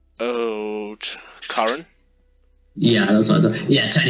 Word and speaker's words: Curran: How do you pronounce his last name? Oh, Curran.